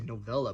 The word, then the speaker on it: novella: I wanted to say novella, but that sounds like telenovela. Why did I do an Italian fling on that? How to pronounce novella. Sounds like Nutella. Novella. Okay, novella.